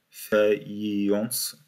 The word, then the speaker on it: faïence: J'ai mal prononcé, je crois. Faïence.